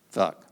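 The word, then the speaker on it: Funck: Her name was Miss Leah Funk, but it was spelled F-U-N-C-K. You could have, if you were a beaver, say Fooch or Futch, but she pronounced it Fuck.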